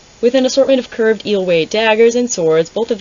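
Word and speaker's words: Eyllwe: I'm gonna check. I gotta fact check myself. Is it a fact or is it just Eelway! I said it right!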